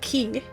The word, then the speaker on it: Q: The Q tribe, pronounced Key, represents the Puk.